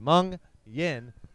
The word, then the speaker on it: Mungion: Since their inception in spring 2015, Mungion, pronounced Mung-Yin, is quickly becoming known for their undeniably explosive and charismatic live shows.